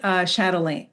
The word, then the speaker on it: chatelaine: You mentioned chatelaine. Chatelaine. Am I pronouncing that?